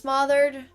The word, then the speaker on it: smother: It's pronounced like mother.